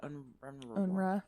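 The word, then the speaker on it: UNRWA: UN Agency for Palestinians how do you just pronounce that unra yeah yeah I always end up skipping the W it never makes it out yeah um this paragraph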